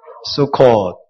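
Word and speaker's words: סוכות: 배우는 기쁨이 있습니다 자 초학자를 히브리어로 스코라 합니다시다 수코 수콧 예 수컷이라는 복수형 이고요 단수 형으로는 수카라 그래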